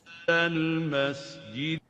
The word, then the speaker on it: المسجد: المسجد Al-masjid. So we have to properly give the sin its whistle characteristic.